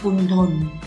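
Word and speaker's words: กุณฑล: มี พูด ยก ย่อง คุณ ทน อ่าน ว่า คุณ ทน มี ความ หมาย ว่า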